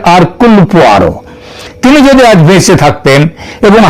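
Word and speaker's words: Hercule: এখানে তদন্ত চলবে আগাতা কৃষ্টির যে গয়েন্দা আরকুল পোয়ার তার তত অনুযায়ী আতাস এবং তার গয়েন্দা আরকয়ার এটা যদিও উচ্চার উচ্চারণে এটা হয় হার কিন্তু একচুয়ালি উচ্চারণটা হচ্ছে আরকুলার তিনি যদি বেচে থাকতেন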